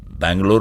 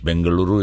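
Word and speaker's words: Bengaluru: as locals okay right Bangalore was the angelized version from the British bangaluru is the right pronunciation of it okay it has multiple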